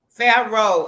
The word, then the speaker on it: Pharaoh: Pharaoh, I told you I was going Hey, to pronounce that.